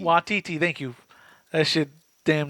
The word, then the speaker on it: Waititi: Watiti. Watiti.